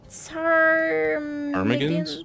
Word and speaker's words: ptarmigans: They look like they're wearing Ptarmigans? Ptarmigans on their heads. I don't know what that is. Usually the P is silent there.